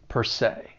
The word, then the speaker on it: per se: that second word say even though it's spelled s-e you're going to pronounce it with that long a sound say per se and then we have